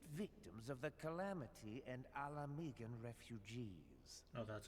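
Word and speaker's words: Ala Mhigan: with the displaced victims of the calamity and alamegan refugees oh that's how you pronounce it they live hand-to-mouth subsisting on aid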